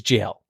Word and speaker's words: gaol: That's and even like you could like Gaol is jail and jailer, but it's like Gowler. You're the Gowler. Yeah. Mm-hmm. But they pronounce it jailer.